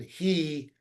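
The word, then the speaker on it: היא: That All we last, know is the text has it written the same way, but the oral tradition has it pronounced masculine who, ben who, and feminine he, bat he.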